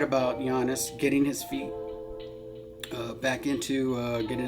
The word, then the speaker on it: Giannis: last name wrong, and I said Giannis, but it's actually Giannis.